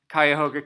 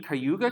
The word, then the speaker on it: Cuyahoga: life in New York, I walked around talking about Kyhoga County and things in Kyogre County. And they finally looked at me, they go, "You mean Kyoga County?" Cuz in New York, it's Kyoga. It's spelled the same.